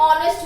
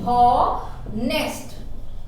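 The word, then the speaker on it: honest: pronunciation करते हैं तो एच क्या होता है साइलेंट होता है इसको हम लोग क्या बोलते हैं आर बोलते हैं राइट चलिए देखिए एन ऑनेस्ट मैन है ना ऑनेस्ट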